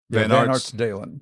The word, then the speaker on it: Van Artsdalen: Nope. Nope. Yeah. Long A. Van Artsdalen. Van Artsdalen. Dalen.